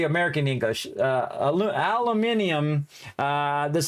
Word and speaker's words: aluminium: it in British uh British way of saying aluminum uh aluminium aluminium I think it's called am I right chat aluminium yeah see